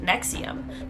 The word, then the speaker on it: NXIVM: front for disgusting crimes, NXIVM, which I believe is pronounced nexium.